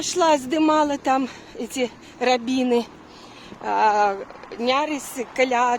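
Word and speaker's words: Neris: я, а Тому, наприклад, река латинкой по-литовски називається N-E-R-Y-S. Нерис пишеться, але треба произносити нярис. Тому і ми кажемо завсёды весь час нярис, нярис, как бы калька з литовської мови.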